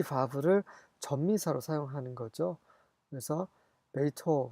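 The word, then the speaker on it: בֵּיתוֹ: 그래서 베이토 그 대신 홀란 vav라 해서 오 발음이 납니다.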